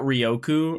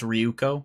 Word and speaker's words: Ryuko: that we that that Rioku or Ryuko, sorry, it's Ryuko. I was saying it wrong.